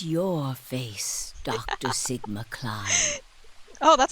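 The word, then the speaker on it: Klim: real this face it's your face Dr Sigma climb oh that's how you say it climb okay yeah yeah Alma although to the you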